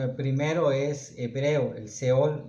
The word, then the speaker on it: Sheol: La primera es Seol, que se escribe con una H entre la S y la E. Se podría pronunciar Sheol, pero no es una pronunciación correcta, sino es Seol.